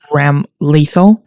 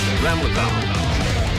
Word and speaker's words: Ramlethal: I have to say I died a little when the announcer said her name as Ramlethal, especially since we already know how to pronounce her name. Ramlethal versus Ramlethal. Get ready.